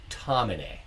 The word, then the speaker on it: Tomine: I asked Eric Reynolds, and he said Tomine.